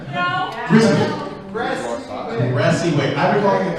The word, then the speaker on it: Gressiwick: Did I pronounce it right? No. Gressiwick. Gressiwick. I've been calling it the Grizzlewick.